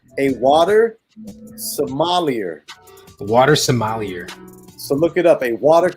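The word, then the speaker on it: sommelier: called the water somalia it's 12 s-o-m-m-e-l-i-e-r i'm sure it butchered it so my liar ah semi-lighter so maybe it's maybe it's french maybe it's somebody yeah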